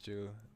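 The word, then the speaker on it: 秋: of do know that the character for Autumn is pronounced Jew.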